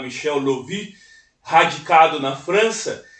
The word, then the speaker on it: Michael Löwy: De um grande ensaísta, professor Michel Lovy, se escreve Michael, né, mas se fala Michel Lovy, radicado na França, e seu companheiro Robert Serre.